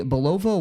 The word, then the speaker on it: Bulova: It was a Bulova watch company. Now, did I pronounce that right?